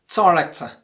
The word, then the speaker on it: director: Next one, director. What about the second pronunciation?